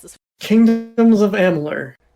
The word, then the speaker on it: Amalur: Oh, somebody pronounce this. Kingdoms of Amalur. Amalur.